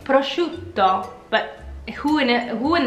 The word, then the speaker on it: prosciutto: Italian ham right well it should really be prosciutto like spaghetti spaghetti like spaghetti should be you should be saying it prosciutto but who in who